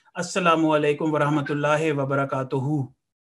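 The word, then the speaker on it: وبركاته: Assalamu alaikum wa rahmatullahi wa barakatuhu. So this ha at the end is not pronounced like that. It is ha. Wa barakatuh. Wa barakatuh.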